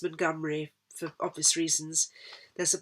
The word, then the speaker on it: Montgomery: colin montgomery and it's the scots surname montgomery pronounced montgomery for obvious reasons there's